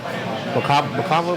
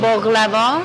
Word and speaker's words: baklava: It's that flaky, like the flaky dough, like Chris, like what was it, bacava? I always pronounce that word wrong. It's a flaky phyllo dough. Baklava.